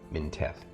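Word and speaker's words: Mintheth: then minteth is m-i-n-t-h-e-t-h basically that one of the H's is silent they're minteth and he is also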